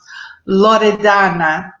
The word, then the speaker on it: Loredana: about my name actually is an is italian and it's really supposed to be pronounced loredana but it's fairly hard to say for most people but the literal meaning of that name is lady of victory where the laura is a derivative of laurel and laurels were used to crown individuals who were victorious in battle and donna is pronounced donna in italian and it means